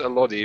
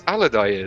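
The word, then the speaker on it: Alodi: I always thought it was pronounced Elodie, but I don't know. Whatever. I'll say Aladai because that's how they say it in the film.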